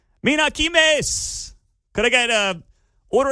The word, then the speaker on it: Kimes: I'll just stick with the Kimes thing. It sounds good. Rhymes with dimes and limes.